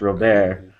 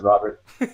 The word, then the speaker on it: Robert: is actually French, and in France it's pronounced Robert, which sometimes you'll hear Dave Brocious call me Taylor Robert. Robert. If you're at an Endurocross race. It's definitely sexy. But I'm not gonna lie. Yeah, I pronounce it Robert.